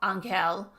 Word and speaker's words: Angel: Angel pronounced his name in the Spanish style. Ankeel. But now he shifted to the English pronunciation said, "I'm an angel